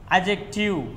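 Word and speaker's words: adjective: నాలుగు అజెక్టివ్ డీ సైలెంట్గా ఉండడం జరుగుతూ ఉంటుంది.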